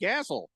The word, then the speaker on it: Gasol: Because he understands worldly dialects, and just like me, I've been to Spain, brother, and it's pronounced Gasol.